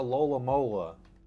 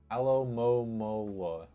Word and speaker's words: Alomomola: And I thought that there was like, oh, like a Lola Mola. That's not how it's pronounced. Alomomola.